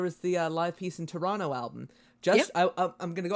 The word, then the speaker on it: Toronto: you don't say that you don't say the second T it's just Toronto Toronto really I've always